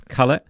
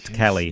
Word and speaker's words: Kale: Kale, and so the proper pronunciation is Kale Samoya. Samoya. Yeah, so my buddy from BMW, Wolfgang, he said, mate, in the Nordic areas, it's Samoya, but it's also Kale, not Cali and things like that.